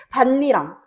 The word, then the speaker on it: 밭이랑: 이럴 때는요 국의 음악 밭랑이라고 발음하는게 아니래. 티귿을 디귿으로 음절의 끝소리 규칙으로 바꿔 준 다음에 그리고 나서 이응이잖아. 이응이면은 뭐야? 뭐 일어나겠어? 비음화 일어나겠지. 그리고 니은 참가까지 돼서 이러한 경우는 반니랑이라고 발음을 하게 돼.